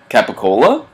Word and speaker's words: capicola: whenever I ask for gabagool they look at me like I have two heads should I pronounce it the right way which should be capicola no question marks i